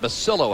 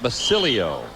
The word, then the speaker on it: Basillo: silho right hand attempted Rene basil--oh of 27 pronounces it basil--oh and not Basilio and his greatest wind